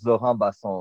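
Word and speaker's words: Zorhan Bassong: Il a demandé à ce qu'on le prononce Zoran Basson, oui.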